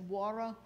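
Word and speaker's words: Joara: Western North Carolina to this place which we would pronounce as wara uh in 15 uh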